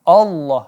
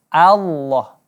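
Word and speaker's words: الله: Kemudian pengucapan lafzul jalalah diantaranya yang banyak disalahkan, yakni mengubah lafzul jalalah lam menjadi o, yakni tentunya salah. Walaupun bunyinya memang seperti o, tapi bukan o, hanya saja ditebalkan.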